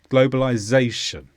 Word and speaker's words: globalization: is a noun with the stress on Zay globalization and this simply describes